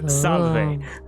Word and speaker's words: salve: Rhonda's not gonna know how to pronounce it. It's writing. I can write it. It is salve.